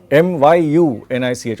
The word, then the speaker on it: Munich: Even in English it is not Bayern Munich. It is Bayern Mu. Myunich, almost.